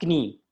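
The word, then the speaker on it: Knie: Next है दास कनी, इसको हम बोलेंगे कनी, के को साइलेंट नहीं करना, के को बोलना है दास कनी, ठीक है, मीन्स द नी।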